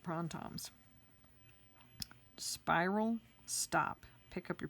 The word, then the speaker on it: Printemps: nice okay so again this is pron Tom's I never would have known how to spell that urge to pronounce that except at our zentangle class where I was certified as a teacher Maria told us that's how you pronounce it prawn times spiral stop pick up